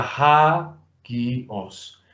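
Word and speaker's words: ἅγιος: Entonces sería ha-gi-os. ¿Cómo dividiríamos esto en sílabas, Tomás? Ha-gi-os, en tres sílabas.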